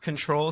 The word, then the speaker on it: CTRL: Former NFL pro and esports coach Amon Green is named, I believe it's pronounced Control, CTRL Yeah.